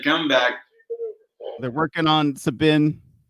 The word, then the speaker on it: Sabin: They're working on Sabin. I keep wanting to say it like Saban.